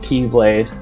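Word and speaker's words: χ-blade: one keyblade which we call the x-blade or kai whatever you want to call it but it's pronounced keyblade and it's supposed to be the main protector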